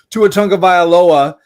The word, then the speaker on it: Tua Tagovailoa: Tua Tagovailoa, 175 alt passing yards, and I should win this bet just for pronouncing this name right.